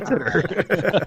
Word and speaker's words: Titor: So if I have any new listeners, they won't think that I don't know how to pronounce John Titter. Titor. His name, John Titter. Yeah, it's John Titter.